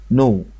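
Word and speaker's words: know: كي ان، كي ان الكلمة الاولانية دي اسمها نو.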